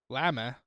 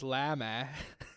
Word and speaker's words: lama: It's So it's spelled Lama, like llama, but it's lama. It's like so it's like somebody from Massachusetts is saying llama.